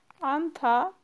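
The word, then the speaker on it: 앉다: Anta yine okunuş kuralı. Bunu atıyoruz C harfini. Sadece N harfi var gibi okuyoruz. Yani anta.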